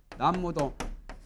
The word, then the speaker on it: 나무: 또 다시 이제 이것도 나무도 나무암이 타불 나무라고 하죠. 발음은 나무 아니요. 나무라고 안 새겨요.